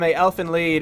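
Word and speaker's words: Elfen Lied: lead so next time say like it rhymes with deed or something anyway just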